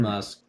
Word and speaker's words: Musk: I think his name's last name rhymes with Husk. But yeah, Elon Musk challenged Mark Zuckerberg to a cage match, which we're going to see if it happens or not.